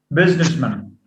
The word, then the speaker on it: businessman: postman he's a businessman businessman with a schwa so instead of having man as a strong form it goes to a